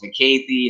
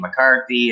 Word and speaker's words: McAthey: And then, my last name, McAthey, other than you seem to pronounce it correctly all the time. But when I was releasing records all the time in Canada, the DJs struggled with that. It was McAthey and McCarthy and everything else.